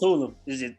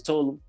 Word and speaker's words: Tulum: Oh, I said Tulum. Yeah. It's Tulum. That's how you pronounce it? It's Tulum. Well, a lot of people say Tulum. That's generally how I've heard it pronounced, but which is great.